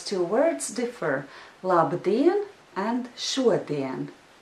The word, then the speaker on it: šodien: Labdien and šodien. However, there is another difference, because in the word labdien, the second syllable is stressed, but in the word šodien, the first syllable is stressed.